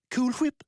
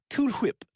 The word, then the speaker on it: Cool Whip: Cool Whip? No, why would it? Cool Whip. I'm putting emphasis on the H.